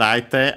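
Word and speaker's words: 相手: As we've mentioned, aite actually would be accented on the last syllable on its own, and would be heard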